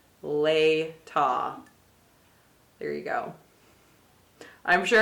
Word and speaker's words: Latah: question I had was how do you say l-a-t-a-h a so it is later lay ta there you go I'm